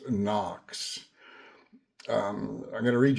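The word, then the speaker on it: НОКС: It's spelled HOKS, but pronounced NOX.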